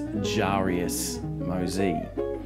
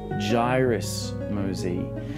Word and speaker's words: Jairus Mosey: During the filming of the first backward picking technique video I created, I referred to this gentleman as Jarius Mosey. His name is in fact Jairus Mosey, and I'm incredibly embarrassed